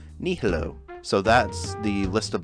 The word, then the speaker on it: nihilo: I've said nilio before, but that is not how it's spelled. Nihilo.